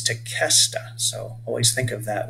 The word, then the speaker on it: Tequesta: Some of us refer to the name Tequesta as Tequesta, but that's an incorrect pronunciation. We want to say Tequesta. They were Native American people that were named by the Spanish, and the sound that is made by the QE is a K sound, it's Tequesta.